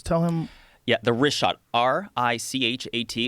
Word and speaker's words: Richat: Yeah, the Richat, R-I-C-H-A-T. It's worth mentioning he's that. got it already here. Yeah, in the first couple, I just want to say it's Richat.